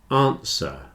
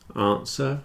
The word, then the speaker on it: answer: Answer and sword have no W. Answer, sword. Answer and sword.